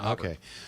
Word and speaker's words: Auburn: So let's get to Jake in, is it Auburn, or am I pronouncing it right? Auburn. Auburn, Yeah, Auburn.